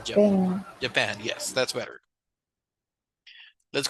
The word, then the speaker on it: Japan: In English, this is Japan. Japan. That's right. It's like Japan. No pang, sino pan. Japan.